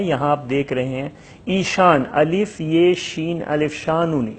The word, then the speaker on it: ایشان: لفظ بھی ہے یہاں آپ دیکھ رہے ہیں، ایشان، الف یہ شین الف شانون، ایشان۔ یہ زیادہ